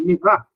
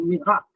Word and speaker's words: Murat: reformas, como em 1858, de Mirat, se escreve Murat, quando vocês verem escrito, é um Mirat.